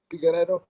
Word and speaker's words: Figueiredo: But I do feel that Figueiredo, how would you pronounce his name again? Figueiredo.